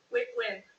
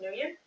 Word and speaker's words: Nguyen: Stephen Ventresca, you are suing your former girlfriend, pronounce it for me. Win. Okay, is it sometimes pronounced Nguyen? Yeah, I've heard it like that.